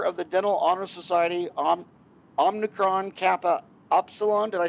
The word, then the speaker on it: Omicron Kappa Upsilon: He is a member of the Dental Honor Society, Omicron Kappa Upsilon.